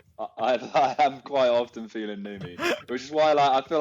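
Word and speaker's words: numi: This last one, new me, a feeling you create when carefully arranging small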